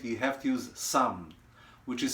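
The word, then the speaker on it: samn: to make it right you have to use some which is spelled s-a-m-n or ghee it is clarified butter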